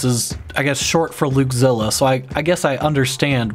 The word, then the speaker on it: Luukzilla: Luke, it looks like you would pronounce the E, like Luukzilla.